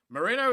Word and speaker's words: Mourinho: so how you say it's like mourinho call me people call me mourinho or they call me moreno mourinho is the right way right or photo joe